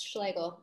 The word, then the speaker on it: Schlegel: So I'll move on and introduce Devin Schlegel. Did I pronounce that correctly? Very close, Schlegel. It's a Schlegel one.